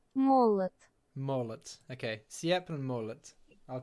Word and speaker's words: молот: And how's the other one pronounced? Молот. Mollet.